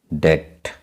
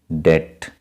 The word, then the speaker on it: debt: So here this word B is silent. So we will read like this manner debt. So B is silent, debt.